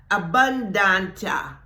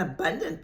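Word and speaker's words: abundantia: to pronounce it okay abundant abundant a b u n d a n t i a but it's a Latin word and I think it's pronounced abunda okay that word abundance and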